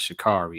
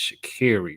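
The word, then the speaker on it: Sha'Carri: this woman's name correctly it's not shikari it's shakiri richardson so i just want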